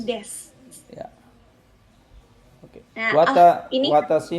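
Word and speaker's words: です: Kemudian untuk yang desu itu bacanya des.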